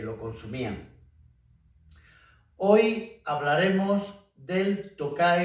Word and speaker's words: Tokaji: tokai suprimiendo la final la diferencia de pronunciación entre la región y el vino pues es el acento tocar en la región toca y es el vino que